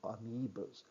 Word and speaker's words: amoebas: And then, next slide, animal-like protists, amoebas, OE, pronounced E, so amoebas.